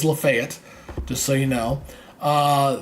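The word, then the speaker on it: Lafayette: lrange five ports uh lefet here and that's how they pronounce it in Alabama by the way that is lefet just so you know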